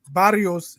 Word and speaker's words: Barrios: Barrios is he's a good fighter, decent fighter.